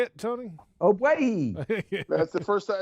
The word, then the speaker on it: Ogbuehi: Ogbuehi.